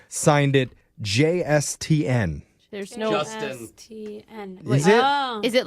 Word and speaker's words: JSTN: It's Justin, but it is spelled JSTN.